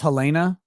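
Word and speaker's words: Halyna: It's pronounced Helena.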